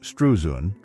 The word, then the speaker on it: Struzan: Drew Strusen, pronounced Strusun, March 18th, 1947 October 13th, 2025, was an American artist, illustrator, and cover designer.